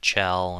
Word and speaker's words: Chell: And as you may or may not know, Shell is the main character. Some people like to pronounce it Chell and all that kind of stuff. I like Shell, to be honest.